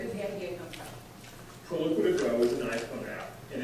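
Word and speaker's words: Proloquo2Go: First of all, pronounce this for me. Sure. It's called Proloquo to go.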